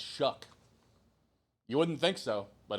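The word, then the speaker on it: Shough: That a name spelled like that, pronounced Shuck, will be good.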